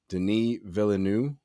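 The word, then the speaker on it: Denis Villeneuve: looking forward here this is from delhi delhi denis villeneux i believe is how it's pronounced the director of the upcoming of dune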